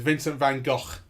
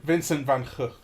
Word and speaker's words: Vincent van Gogh: As his brother pronounces it. Everyone in England just goes, Vincent van Gogh. Okay. But that's wrong. Right. Vincent van Gogh.